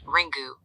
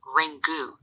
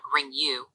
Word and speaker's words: Ringu: The 1998 Japanese film Ring is pronounced Ring-gu, which is Ring-gu, not Ring-yu.